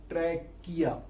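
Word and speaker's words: trachea: इसमें CH का pronunciation क्या है, क, ट्रैकिया।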